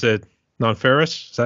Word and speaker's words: Nonferrous: today David Compton AKA do you pronounce it non feris is that how you pronounce it yes non feris yes non feris how you doing today brother I'm doing good